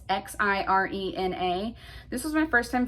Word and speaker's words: Xirena: Next up is, I think you pronounce this brand Zarina. It's Xirena.